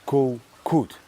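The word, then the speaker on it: Kood: there's an island called coot you pronounce it like Kut but if I say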